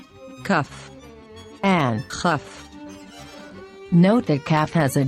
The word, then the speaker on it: כ: Kaf, Kaf, But when there is no dot inside, we pronounce it with a guttural sound. Chaf, Chaf.